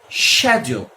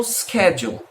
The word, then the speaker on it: schedule: Existe a palavra schedule. Peraí, tem duas formas de pronunciar. Os americanos normalmente pronunciam schedule. Os britânicos, eu já vi a grande maioria dizer schedule, mas já vi também alguns dizendo schedule.